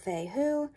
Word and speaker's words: Fehu: Put the name, Fehu, how to pronounce it, Fehu, then what it represents, and then kind of what it means.